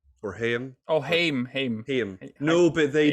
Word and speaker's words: Haim: Cross, Anthony Molinari, Alana Haim from the band Haim. Or Haim. Oh, Haim. No, but they did a TikTok where they're like, yes, this is how you pronounce it. I think it's Haim.